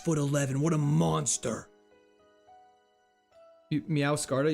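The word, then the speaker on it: Meowscarada: Meowcarta. You say it like masquerade. Meowade. Meow scarada. Like that. Meowcarada.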